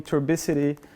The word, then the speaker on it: turbidity: And that's also basically using turbidity. I can never pronounce that word. Is it turbidity? The one with like the water that's kind of dirty. Turbidity, thank you.